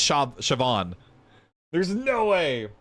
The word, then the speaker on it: Siobhan: like that word and then know that it's pronounced sha Siobhan there's no way like chevron that makes sense